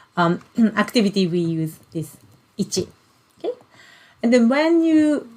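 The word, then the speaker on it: 一: we learn okay so this kanji character is ichi and then this ichi is like mathematical number so when you um you know like additions or you know that kind of mathematical um activity we use this ichi okay and then when you when we count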